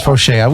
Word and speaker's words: Fauché: Oh, that's how you pronounce Fauché. We were trying to figure that out earlier. Okay, I'm sorry. Fauché. Fauché. It's French.